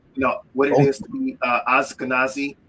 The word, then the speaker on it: Ashkenazi: Study, what it is to be Ashkenazi. I know I'm probably saying that wrong. So, and no, you're saying it right, actually. Ashkenazi, Sephardic, Ashkenazi, and those